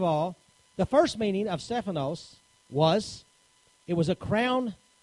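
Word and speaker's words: στέφανος: my note is to give you the proper pronunciation for that word all right we find that the word was actually here Stefanos okay and that means three different meanings to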